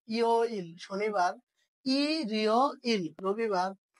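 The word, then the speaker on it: 일요일: তাহলে ইরিয় ইল উচ্চারণ হয়ে যাবে রবিবার। কি হয়ে যাবে? রবিবার। তাহলে এই যে রিউলটা কি উপরে চলে যাবে ইয়র মধ্যে, তাই না? তাহলে উচ্চারণ হয়ে যাবে ইরিয় ইল।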